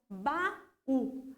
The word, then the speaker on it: baú: Então, baú, a última sílaba tônica.